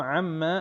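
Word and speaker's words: عَمَّ: Oke perhatikan Amma yatasaalun perhatikan di situ Amma ada mim tasdid maka cara bacanya ditekan ditahan ya dua ketukan itu secara teorinya tetapi praktiknya usahakan lebih dari tiga ketukan karena kalau kita belajar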